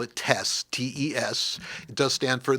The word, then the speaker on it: TES: I don't know how to pronounce it. Well, it's to make it easier for you. They also call it TESS, TES.